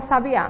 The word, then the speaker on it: sabiá: a vejo uma palavra Sabiá me chama aí a palavra sabiá sabia o acento tá na última letra e tá dando sentido